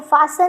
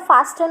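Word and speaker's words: fasten: अब देखो फासन में अपन ने टी को ज़्यादा सुनते नहीं अपन, नहीं तो फास्टन होता।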